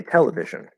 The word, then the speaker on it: television: So in a word, right, if I say television, the primary stress, the loudest, biggest stress is on the te, right? Tele. And then vision is also stressed, but not as high. Television. So we kind of hear this sort of bump.